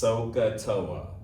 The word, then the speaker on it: SOHCAHTOA: We would pronounce this SOHCAHTOA, SOHCAHTOA, SOHCAHTOA.